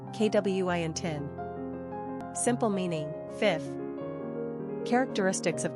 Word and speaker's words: Quintin: Number of syllables, 2. Ranking popularity, 853. Pronunciation, KWINTIN.